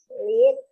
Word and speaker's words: read: He has read all books to Aha, sekarang ini bacanya red, seperti warna merah.